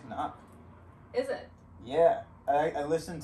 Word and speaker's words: Cnoc: squeeze filter like really really good is the senoc outdoors water bladder which are designed specifically to work with this style of filter although on the cnoc website they recommend using um a different it's actually pronounced cannot is it yeah i listened to an interview